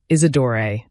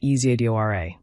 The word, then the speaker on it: Eidor: She'd mispronounce my name deliberately, Isidor, instead of the correct Eidor, and laugh when I corrected her.